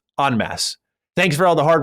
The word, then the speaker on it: en masse: I've heard you say on multiple occasions in masse. For example, the public were playing this game in masse. The term is en masse, pronounced en masse.